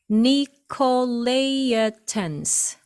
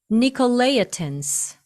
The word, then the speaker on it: Nicolaitans: 자, 여기 발음 보시면 Nicolaitans, Nicolaitans, 니골라당이라고 번역이 되어 있습니다.